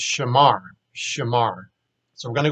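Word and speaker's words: שָׁמַר: So now let's look at and pronounce this verb shamar. So again, this is our root here, shamar.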